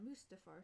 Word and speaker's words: Mustafar: Do you like the duel on Mustafar set? Is that how you say it? Yes. You got that perfectly right.